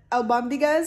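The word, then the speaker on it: albóndigas: soup like that before i've also learned that al bambigas is how you say it and it stands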